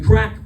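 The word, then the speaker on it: craic: But that was spelled like C A R A I C like in the Irish sense of the word which is like what's the crack which means what's up what's going on.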